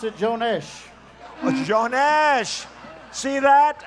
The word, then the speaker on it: Jones: in ireland boy am i telling fibs we pronounce it joanesh what's your nash see that i didn't know